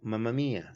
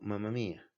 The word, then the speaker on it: mamma: Así, mamá con el acento en la, mamá. ¿Cómo dice el italiano, mamma mía, sin el acento, mamma mía?